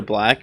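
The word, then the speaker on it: 6lack: Do you listen to Black or no? Black. Black? Yeah. Sick Black? Sick. The one with he got yeah, a it's a 6, but it's pronounced Black.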